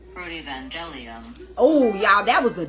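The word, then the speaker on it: Protoevangelium: Some of y'all probably wouldn't have been able to pronounce it correctly the first time either. Protovangelium.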